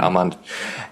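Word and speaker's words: Armond: Armand let's get the pronunciation right. Armand he was an avatar for like one of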